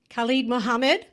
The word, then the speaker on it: Khallid Muhammad: Khallid Muhammad, also known as.